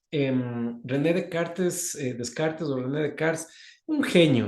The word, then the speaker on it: Descartes: hacer René de Karts o bueno se escribe de se pronuncia de Karts en René de cartes Descartes ordené de Cars un